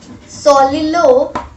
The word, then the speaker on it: soliloquize: Means simply the pronunciation of this particular word is soliloquize. Solilo, that is similarly this. Solilo and quize. Quize means quize. We have stretched this word quize.